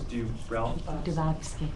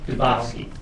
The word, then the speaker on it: Dubofsky: Yeah, I have a question for, I'm going to botch your name, Justice Dubofsky. Dubofsky. Oh, whatever. Okay. It rhymes with Tchaikovsky.